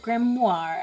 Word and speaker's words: Grimoire: today I will play more of Detective Grimoire, and I said it correctly that time.